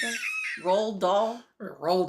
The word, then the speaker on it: Roald: Roald Dahl, yeah. It's like Ronald minus the N.